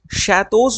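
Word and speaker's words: château: हैं और वो लोग शैतोस में इसको शैतो पढ़ते हैं। ऐसे इसका प्रंसिएशन यह ठीक है? यह इसका प्रोनंसिएशन है। अह सॉरी स्पेलिंग गलत है। सी एच ए टी ई ए यू तो जो शैतोस होते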